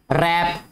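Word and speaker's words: wrap: रैप, रैप आपने daily basis पे सुना होगा, रैपर. ठीक है, लुपेटना, लुपेटना होता है जिसमें W बेटा साइलेंट है.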